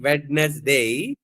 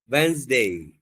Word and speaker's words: Wednesday: Most of the students will pronounce like Wednesday, but you should say Wednesday.